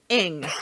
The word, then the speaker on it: Ng: His last name is two fucking letters, NG. Yes. That's I was confused. retarded. I was like, how in the hell do you pronounce that? But I figured it out. You need a vowel in there. You do. And there's no vowels.